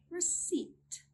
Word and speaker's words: receipt: We do not pronounce the P sound when it comes in a combination of PS, PT, and PN. Let's look at some examples. Pneumonia, pneumonia. Psychology, psychology. Pterodactyl, pterodactyl. Receipt, receipt.